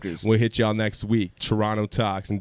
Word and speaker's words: Toronto: Turono Talks, and don't pronounce the T, motherfucker.